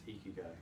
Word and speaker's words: Ikigai: It's Ikigai.